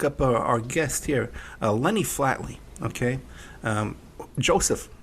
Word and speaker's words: Flatley: Flatley. Flatley, okay. Yeah, like Flatley Earthly.